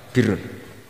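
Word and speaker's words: بِرّ: Ya kalau di isim failnya umumnya guru-guru kita baca barrin. Tapi untuk masdarnya, untuk kebaikan bacanya apa? Birun.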